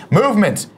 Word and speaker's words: MVMT: you by movement watches movement MV MT pronounced movement was founded on the